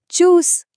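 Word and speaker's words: Tschüss: और वो शब्द है चूस देखा इसमें भी टी एस सीएच वाला च का नियम काम कर रहा है तो अगली बार तक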